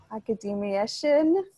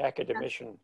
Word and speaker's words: academician: others a national academic academiation is that how do you pronounce that it's the academician sir great that uh